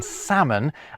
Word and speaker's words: salmon: They would never to be pronounced B in plumber, a mute C in indict, a ludicrous L in salmon, and a stupidly silent S in isle.